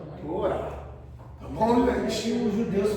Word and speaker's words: Torá: De igual modo, o H final em toda a palavra hebraísta não tem som.